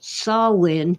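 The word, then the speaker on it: Samhain: I want to know why they pronounced that holiday sawin when it's spelled Sam Hayne why not spell it the way it sounds oh that's right it's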